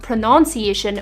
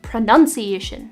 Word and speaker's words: pronunciation: first word is right on topic pronunciation it's not pronunciation or pronunciation it's pronunciation because of a common misspelling many people replace